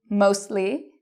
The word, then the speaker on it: mostly: So if you see S-T-L, F-T-L, these are signs that you usually pronounce the T. What are some examples? Well, you can pronounce the T. Lastly, you could also say lastly. It's okay either way. Justly, mostly, softly. You can say it with or without, depending on where you're from.